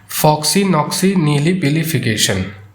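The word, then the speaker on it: floccinaucinihilipilification: इसका प्रोनाउंसिएशन है फक्सी नॉक्सी नीली पलीिफिकेशन।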